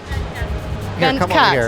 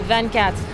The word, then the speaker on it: Vingt Quatre: Vingt Quatre. It's 24 in French.